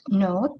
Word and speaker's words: know: catch a bug yeah as we know this word no start with the k but that is a silent letter no i know how